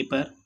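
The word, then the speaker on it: père: ऊ, यू पर grave accent है, इसको हम प्रोनाउंसिएशन करेंगे ऊ मीन्स वेयर।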